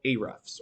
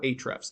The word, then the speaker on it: Ahrefs: with the system calls called a refs or ahrefs depending on how you want to pronounce it we put their company